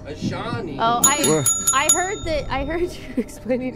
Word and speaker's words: Ayshané: Okay, will you spell it for me then, Ayshané? A-Y... Yeah, that's what I said. S-H... A-N-E with... an accent. Ayshané.